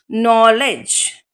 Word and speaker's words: knowledge: and the last word is no le D is silent J knowledge last word is knowledge thank you